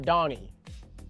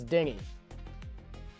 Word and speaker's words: Denny: My name is not Donnie, it's Dingy.